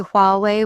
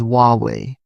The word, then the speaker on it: Huawei: I notice people say Huawei with English sounds. The Chinese pronunciation is Huawei.